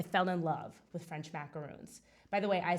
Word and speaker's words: macaron: in school I fell in love with French macaroons by the way I say macaroon not macaron cuz I'm from New Jersey and I don't